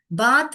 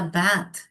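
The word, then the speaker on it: bath: भैथ डड you have a भैथ बात नहीं बोलने का बात बोलोगे तो भी त आएगा थ द नहीं आएगा बात बोलोगे तो मगर एक्चुअल प्रोनाउंसिएशन इसका बैथ डिड यू हैव योर बैथ बैथ तो देखिए सिर्फ हवा ही आ रही है थ में थ अनवॉइस्ड है थ बैथ दूसरा देखेंगे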